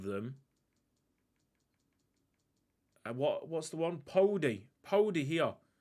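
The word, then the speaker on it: Paudie: what what's the one podi podi here i mean p-a-u-d-i-e but it's it's pronounced p-o-d-i-e basically i've gone straight past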